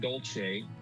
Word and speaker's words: Dolce: When I came to the University of Utah, I was DOLCE until my grandmother came to visit with my parents. He asked my grandmother the correct pronunciation, and she told him that it was DOLCE. And from that moment on, I became DOLCE.